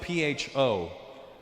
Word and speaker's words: pho: It's spelled P-H-O, pho. But it's not the way it's pronounced.